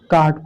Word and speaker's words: caught: जैसे आपका एग्जांपल देखिए, CAUGHT, इसको क्या पढ़ते हैं, काट पढ़ते हैं।